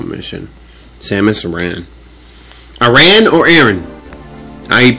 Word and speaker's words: Aran: Aran or Aran? I pronounce Aran.